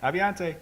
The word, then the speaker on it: Aviante: Pretend you have a beer in your hand. Aviante.